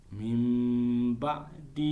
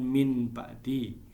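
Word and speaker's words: مِن بَعْدِ: bertemu dengan Pak Nya maka membacanya adalah dengan membagi seakan-akan Mbaknya duluan ini Mbah sedih hidup mimba'di i Hai bukan Min Pakde tapi mimba'di hihihi Sami omba sihir Sami Al Basir jadi seakan-akan paknya dulu yang muncul makanya disebut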